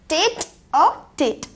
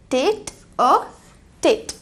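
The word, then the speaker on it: tête-à-tête: TETE, TETE, और जिसे हम प्रोनाउंस कर सकते हैं एज टेट अ टेट, टेट अ टेट, जिसका मीनिंग होता है आमने सामने, हेड टू हेड या फेस टू फेस।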